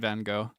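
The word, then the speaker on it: Van Gogh: Yeah, I think it it depends on the country that you live in, but I live in the United States, so I say go. Vincent Van Go.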